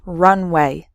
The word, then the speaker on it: runway: speed before taking off so the first word has three syllables run away and the second word has just two syllables runway completely different meanings okay